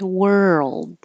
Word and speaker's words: world: But you don't have to pronounce the D at the end. World.